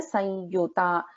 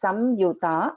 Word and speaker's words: वदनत्रयसंयुता: Vadanatraya sanyuta. So like I said yesterday, we can pronounce this as samyuta, anuswara. We can also pronounce this as sanyuta, vadanatraya sanyuta, vajradika yudhopeta.